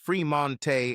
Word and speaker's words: Fremont: Now, at 18 years old, Sage had 2 sisters, Age, pronounced Ajay, and Lage, pronounced Lajay Smith, and 2 brothers, Fremont, pronounced Fremonte, and Tremont, pronounced Tremonte Jones.